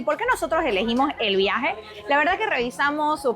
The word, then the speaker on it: El Byahe: Esta agencia se llama El Viaje, aunque se escribe así, como lo ven.